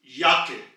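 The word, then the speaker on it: Jacke: German में कहते हैं याक याके सो आप नोट करें जे की आवाज थी यट यानी के इंग्लिश के वाई की आवाज यट और वही आवाज हमने इस वर्ड में अप्लाई की है याख याख यानी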